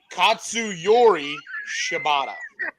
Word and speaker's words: Katsuyori Shibata: Katsuyori Shibata.